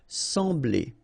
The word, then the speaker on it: sembler: So EM will give you the sound en, okay? So you don't pronounce the M, you just get the sound en. Sembler, sembler, okay?